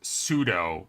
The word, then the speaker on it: pseudo: Uh like drop the P in pronunciation. Like the P is silent because it it is read. It is like read as pseudo something like a pseudo name.